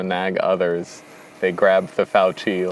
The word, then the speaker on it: Fauci: bunch of little demigods like Fauci or Fossey or however the fuck you say his name. Fauci. And he was kind of this little. I always imagined Fauci as being this like,